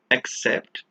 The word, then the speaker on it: accept: One is with an A, which is why we pronounce it as accept, and the other one is written with an E, and we pronounce it as accept.